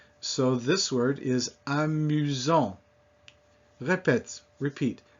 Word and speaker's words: amusant: But between two vowels, it is pronounced like a Z. So this word is amusant. Repeat, amusant.